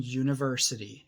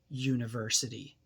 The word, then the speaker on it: university: examples to see why the first letter in university is you and you is a vowel however the first sound in university is a y sound university and